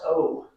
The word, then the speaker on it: owe: what does O mean o w e o one you just say it like just oh what o means well